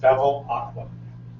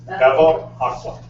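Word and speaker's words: Bevilacqua: In English, it's pronounced Bevel Aqua. So it rhymes with devil. I'll say again. Bevel Aqua.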